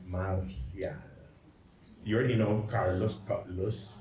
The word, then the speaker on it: Marcial: Next slide, but how are the CHamoros going to pronounce Marcial? You already know Carlos, right? Esparsa, Espatsa. So Marcial becomes Matsiat. But listen, Mat, but people get lazy. And Matsiat becomes Makshot.